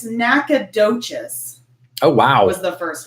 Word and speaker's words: Nacogdoches: So it's looking like it's Nacogdoches. Oh, wow. Was the first one. Okay. So Nacogdoches.